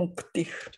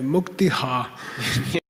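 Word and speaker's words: मुक्तिः: 现在有一个很不好的习惯, they mispronounce this. 就把它误读了, pronunță greșit. They say muktiha. Ei spun muktiha. Shantiha. Shantiha. It's a mistake.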